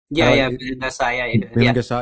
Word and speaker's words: Balendra Shah: The critique of Balendra Shah, did I say his name right? Balendra Shah, yeah.